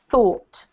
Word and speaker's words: thought: this one yes okay let me pronounce them both for you so that you get the clearer picture this one here is pronounced oops this one here is pronounced though this one here is pronounced thought all yeah y'all so this is thought with a like here and this one is though with a look like here so we have to go up to thought okay mmm okay can